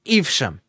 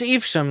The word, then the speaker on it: Evesham: And my character was in a town in Mercia called, the correct pronunciation is Evesham. But if I'm looking at it, I'm like, Evesham or Evesham. No, it's Evesham.